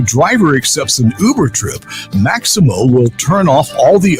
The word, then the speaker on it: Maxymo: The Maximo app, which is spelled Maxymo, it helps Uber, Lyft, and Grubhub